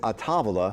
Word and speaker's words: A Tavola: several different ways the in italian it's a tavala yeah which means come